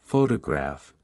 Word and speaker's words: photograph: For example, in the word photograph, the stress is on the first syllable, while in photographic, the stress shifts to the third syllable.